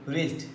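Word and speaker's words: wrist: এইযে আর ও এনজি এর উচ্চারণ হয়েছে রং ডবলিউ আর আই এসটি রিস্ট রিস্ট অর্থ হাতের কবজি এখানেও ডবলি এর পরে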